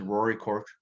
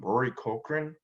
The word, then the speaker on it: Cochrane: woody harrelson this is rory cork i always mispronounce his name rory cochrane but anyway a lot